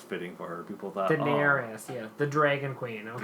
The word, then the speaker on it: Daenerys: things people hated was I can never say her name right Danner is Daenerys Daenerys there is Daenerys